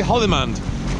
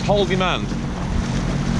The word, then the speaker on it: Haldimand: Anyway, we're in Haldimand County now, so we're not in Niagara region. When I say Haldimand County, I want to say Haldimand, like in Afghanistan, but this is Haldimand.